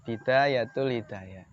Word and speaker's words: Bidayatul Hidayah: sudah tipis banget judulnya itu bidayatul Hidayah ini bacanya bidayatul Hidayah jadi ini kitab singkat ringkas tapi mendalam gitu